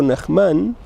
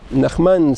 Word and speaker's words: Nahman: recado al maestro nahman nahman se dice o nahman en español se acentúan como cala y cabalá en la primera sílaba o en la última en español es cala en hebreo es cabalá así se dice nahman pero en en hebreo se diría nahman por eso a veces